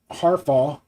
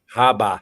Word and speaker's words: Harbaugh: Harbaugh, how do you say his name? Harbaugh? Haba.